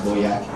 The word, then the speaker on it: Bojack: my dog Bojack, and you'd say Bojack is actually pronounced Boyak.